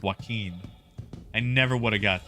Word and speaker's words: Joaquin: at pronouncing things like like the name Joaquin I thought it was joke when for years the I was finally corrected turns out it's not Joe Quinn at all it's Joaquin I never would have